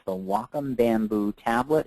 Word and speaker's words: Wacom: that's the Whiteboard tool pronounced like Wacom like I'm like I'm walking somewhere w m it's the Wacom Bamboo tablet it's about